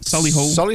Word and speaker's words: Solihull: Solihull. How do you pronounce it? Solihull.